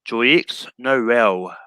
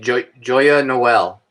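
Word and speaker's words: Joyeux Noël: Which MCU actor plays Lieutenant Horst Mayer in Joyex Noel? You mean Joya Noel?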